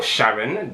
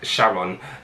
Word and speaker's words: Charon: It's not an actual planet now, and this is the moon Charon, or Sharon, depending on how you want to pronounce it.